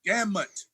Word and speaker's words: gamut: It's gamut with an M, no B.